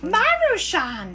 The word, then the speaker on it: Maruchan: How do you pronounce that? Maruchan.